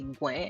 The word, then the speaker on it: gweehn: We would say gwen, everything going to be fine now.